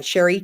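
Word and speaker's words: Chri: uh the Codebreaker technology is uh Sherry tree it's spelled c h r i so it looks like cherry tree cherry tree and she came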